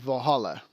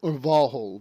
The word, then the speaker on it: Valhall: Valhall is the correct way to say it. With a lot of these Norse words, the A at the end was added later because it makes it sound more feminine.